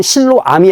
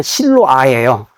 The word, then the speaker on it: 실로아: 여기 성경에 나오지만 보냄을 받았다라는 뜻인데 그니까 원래 히브리어 발음으로는 실로암이 아니라 신로 아예요.